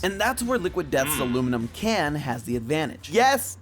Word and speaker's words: aluminum: Yes, we Americans say aluminum. We don't say aluminium, or however the Brits actually say it.